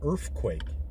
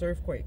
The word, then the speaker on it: Earfquake: creator, and we're doing Earfquake. Earfquake. Or Earfquake? It's like Earfquake. Earfquake, yeah. Yeah. I think I said it right. Yeah, like Earth, but it's an F instead of the TH.